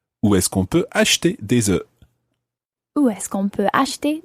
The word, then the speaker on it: des œufs: But if you're looking for more than one egg, it's des œufs. Des œufs. And it's spelled O-E-U-F-S, but it just sounds like Des œufs.